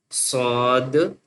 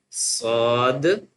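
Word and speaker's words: ص: So this one is without dot with a zero dot swad ba swad ba swad ba And the next one is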